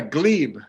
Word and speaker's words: glebe: Was it glebe? Is that how you say it? Yeah, glebe.